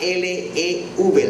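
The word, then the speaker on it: לב: el corazón, en hebreo es la palabra L-E-V, lev, así se escribe, L-E-V, y significa mente, sentimiento, emociones, voluntad, intelecto.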